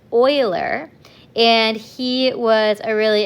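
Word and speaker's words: Euler: His name is pronounced oiler.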